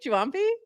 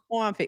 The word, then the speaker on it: Juampi: Let's bring our friend up here from Talent Protocol who can tell us exactly how to pronounce his name. Hey, what's up? Juampi? Juampi. With Juampi, like a Juampi.